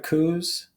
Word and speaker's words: coup: But we have one historian on Twitter, historian of coups. A coup is when you violently overthrow the government. You don't pronounce the P.